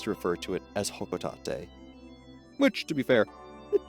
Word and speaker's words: Hocotate: referring to it, I always just called it hocotate cuz that that was a lot easier for me. And that's also what the word looks like. However, I will do my best to refer to it as hokotate, which to be fair, it doesn't sound bad.